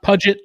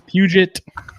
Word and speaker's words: Puget: facebook and instagram pgtown pythons not budget like i thought it was for most of my life until randy corrected me and said it's puget look as far as